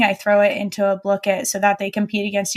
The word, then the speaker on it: Blooket: My classes thrive off of a website called I'm going to say it wrong and I'm sorry, but Blookit or Blookit.